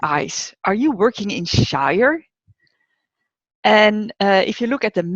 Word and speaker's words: Shire: Unfortunately, the site is not pronounced Shire. It's actually pronounced Shire.